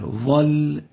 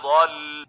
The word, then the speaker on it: ضل: فقد ضل. ضل, not ظل. ضل, ba, not va. So avoid replacing the Dhad with a va.